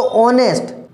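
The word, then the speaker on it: honest: एम एन ऑनेस्ट, तो ऑनेस्ट H, spelling भले ही एच है उसमें, ऑनेस्ट की स्पेलिंग भले ही शुरुआत में एच है, बट साउंड इसका क्या, ऑनेस्ट, ओ है, ऑनेस्ट, ओ आ रहा है, तो इसका मतलब क्या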